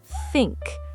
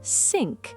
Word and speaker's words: think: The key sound is th at the start. In English, you put your tongue between your teeth. Think, not sink. Think. Think, not sink. Think. The tongue goes between the teeth.